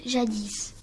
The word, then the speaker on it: jadis: jadis signifie longtemps dans un passé lointain on prononce jadis comment appelle-t-on l'appareil qui mesurent la température thermomètre